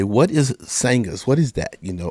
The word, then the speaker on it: Sangahz: things a lot of people say what is sanghas what is that you know or they read it and of course I spell it uh s-a you can see here I